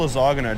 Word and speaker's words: lasagna: You don't sell lasagna, do you? You're not talking lasagna. Lasagna, yeah. Don't pronounce the G.